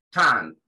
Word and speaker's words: tongue: Tongue. Tongue. ¿Sí? La G como que no se pronuncia. La U tampoco. Las últimas tres letras de esta palabra en inglés como que no se pronuncian.